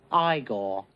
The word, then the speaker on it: Igor: you've become her igor first of all it's pronounced igor it's not even about gabby hannah it's not